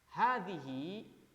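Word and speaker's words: هذه: ditambah dengan kata Hadi Hadi high ini dibacanya panjangnya sebenarnya ha ini otomatis dibacanya panjang hadihi hakibati nah soalnya kan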